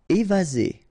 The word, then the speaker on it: évasé: Évasé. Remember, one S between two vowels. Z. Évasé.